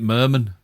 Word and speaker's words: Merman: that later how interesting you pronounce it Merman as in Ethel yes and not another